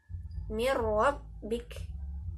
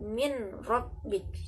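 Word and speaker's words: مِن رَّبِّكَ: Ketika bertemu dengan ro, mirrabbik, mirrabbik, bukan min rabbik ya. Jadi hati-hati kalau nun sukun bertemu dengan ro langsung diidghamkan atau dimasukkan. Seharusnya kan min rabbik, tapi dibacanya mir rabbik.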